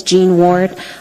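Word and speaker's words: Jean Ward: thank you thank you hello my name is gene ward i'm an anchorage resident in west turning for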